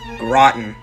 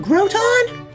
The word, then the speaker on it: Groton: also very highly requested rotten what do you mean it's not groton uh-uh groton you shouldn't be surprised